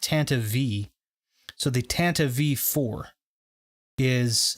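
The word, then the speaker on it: Tantive IV: and it's tantive four but it's not actually tantive I found out that it's pronounced Tanta V so the Tanta V4 is the ship that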